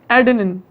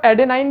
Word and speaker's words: adenine: पहली चीज होती है स्टूडेंट्स एडेनिन, ADENINE, एडेनिन। बहुत से लोग इसको एडेनाइन भी बोलते हैं, ठीक है, स्पेलिंग याद रखने के लिए, ठीक है, ऐसा बोलो कोई प्रॉब्लम नहीं।